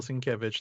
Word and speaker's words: Sienkiewicz: since yes the only reason listen i had mispronounced his name this is bill sienkiewicz the artist the longtime artist and he had